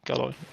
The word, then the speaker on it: Galoy: I don't know if I'm saying his name correctly, if I'm pronouncing it correctly. I think it's actually Galoy, by the way. Galoy.